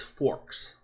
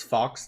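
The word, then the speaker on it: Fawkes: she must not be named who changed Hermione's pronunciation between books because he got feedback says forks. Nope. It's Fox to you.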